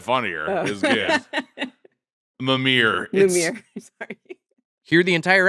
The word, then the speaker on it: Mimir: Moomer from God of War? That's a real Moomer move. Did I say it right? No, you said it funnier. Oh. It was good. Mimir.